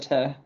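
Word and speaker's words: Goethe: gy Institute okay so in English we do pronounce it as good Gerta Institute just because we don't usually change the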